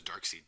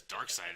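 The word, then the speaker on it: Darkseid: I don't know who I say it was dark seed didn't know we thought it was dark seed because we never heard it pronounced before until like recently I think the last 15 years I think I heard somebody finally it was dark side I was like way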